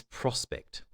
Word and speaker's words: prospect: Because you might be used to reading that prefix as if it's an open syllable. We actually pronounce this prospect.